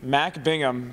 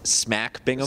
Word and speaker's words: Smack Bingham: With 3, Mac Bingham hit 2 the other day against Helix. You mispronounced that. It's Smack Bingham.